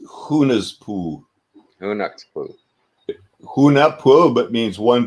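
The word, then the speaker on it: Hunahpu: It's pronounced Hunaspu.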